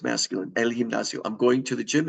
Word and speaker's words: gimnasio: word gym and elio the G before uh an i is pronounced like an h and it ends in an oo it's masculine El gimnasio I'm going to the